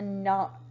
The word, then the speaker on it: knot: Okay, the last one is a knot. Knot, like you knocked on a door.